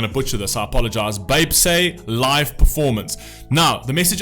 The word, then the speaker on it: 뱁새: BTS often call themselves as crow-tits, pronounced Baepsae, underdogs, those who started with disadvantages, with powerless and were powerless in the society, and so on.